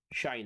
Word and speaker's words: sinh: produce is one called hyperbolic sine of X pronounced shine of X and that's going to